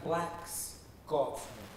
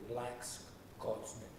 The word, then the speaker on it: Blaxcotsman: Now that's Blaxcotsman. Blacks, spelled with an X in the middle, Blaxcotsman.